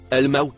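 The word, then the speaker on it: الموت: mot écrit en violet il se prononce el maout à il désigne les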